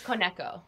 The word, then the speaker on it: Koneko: How am I meant to pronounce it? I've been saying it wrong this whole time. It's Koneko. Koneko, okay.